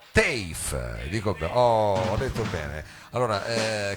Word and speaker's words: TEIF: E tutto ciò perché stanno per arrivare qui, diciamo, sul palco del salotto, bisogna pronunciarlo così perché è un acronimo che si pronuncia TAFE, dico ho detto bene,